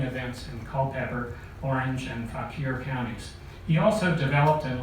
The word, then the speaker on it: Fauquier: He moved to southern Fauquier County. Did I pronounce that right?